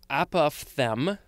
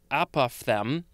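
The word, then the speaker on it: apophthegm: a-p-o-p-h-t-h-a e g m so i would guess that it is pronounced apophthem yeah apophthem and it is the chiefly british variation of the word apothem a-p-o-t-h-e-g-m so it got rid of that f sound made by the ph so i hope that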